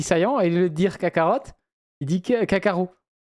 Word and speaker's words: Kakarot: Oui, il dit Saiyan et il veut dire Kakarot, il dit Kakarot. Oh, Parce que du coup, on dit à la française, on prononce pas le T.